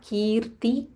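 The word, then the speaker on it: कीर्ति: lokanam lokanam kirti kirti this is dirgha kirti vardhanam vardhanam dha mahaprana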